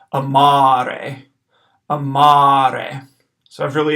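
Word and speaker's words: amare: long a ar e the first day is short the second day is long so I'm gonna hold out that second a a little bit longer than the first one so here's the pronunciation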